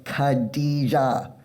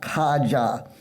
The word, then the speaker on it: Kadijah: Her name is Kadijah, not Kaja. It is racist to continue to mispronounce her name.